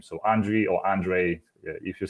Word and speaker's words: Andrii: And so Andrii, for that's how I should pronounce the name. Andrii, is this correct?